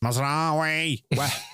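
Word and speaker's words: Mazraoui: They're on the verge of put Tom Heaton in right Maz Mazawi got 3.8. Say it properly please. Mazawi.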